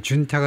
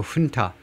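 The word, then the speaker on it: junta: 또 훈타, 군부지요. 이게 스페니쉬이기 때문에 준타가 아니고 훈타, H 발음을 합니다.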